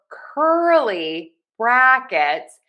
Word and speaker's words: curly brackets: For curly brackets, we have a great stress pattern here. Stress, unstress, stress, unstressed. Curly brackets.